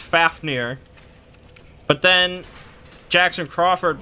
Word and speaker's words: Fafnir: the dragon which I thought was always pronounced Fafnir but then Jackson Crawford pronounces it as full fear so that's what I went with I know